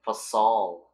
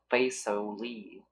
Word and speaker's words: Fasol: Yes, my lover Fasol told me all about you. Oh. Please, help us, Your Grace. He's in great danger right now. Oh, that's how you say his name. Fasol, not Faisali.